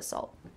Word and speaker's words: salt: Listen for the final T on those two words that end in T. They're all about the salt. They're all about the salt. Do you hear the T? They're all about the salt? No. Instead, this is going to be that stopped T sound. So I want your tongue on the roof of your mouth stopping at the end of that word.